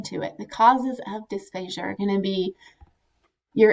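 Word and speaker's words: dysphagia: and it seems like the majority say dysphasia as in like Asia as a country some folks will say despacio sounds fancier but for the most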